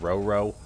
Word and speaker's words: Roro: maybe Rooro is pronounced Roro because like you got Zo and then the bot author also has Dodo and Na N. So, that is probably correct. I might call it Rooro, though, as uh yeah.